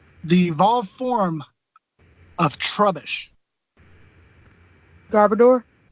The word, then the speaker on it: Garbodor: evolved form of trubbish garbodor that's how I say it - I've heard garbodor and I've also heard a car boater like the pronunciation or